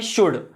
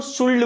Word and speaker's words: should: वो इस शुड को शुल्ड बोलते हैं। शुल्ड कैसे? इसमें एल साइलेंट है, तो इसको क्या पढ़ा जाता है? तो इसको पढ़ा जाता है बहुत ही सिंपल, क्या? शुड, शुड, शुड, right?